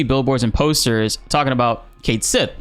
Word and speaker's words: Cait Sith: they finally meet him he says in his Scottish accent his name is ketchy and the party just